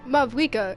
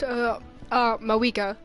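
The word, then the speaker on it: Mavuika: Also, just learned, it's not pronounced Mavwika, it's pronounced, Mawika.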